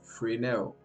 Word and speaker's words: Fresnel: The pronunciation is Fresnel.